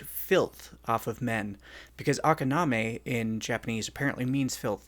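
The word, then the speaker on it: あかなめ: It's Japanese, so it's spelled like it sounds. Say it's Akaname.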